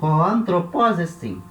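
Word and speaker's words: ὁ ἄνθρωπός ἐστιν: Hoanthropos estin. Dessa maneira correta, né, de ler.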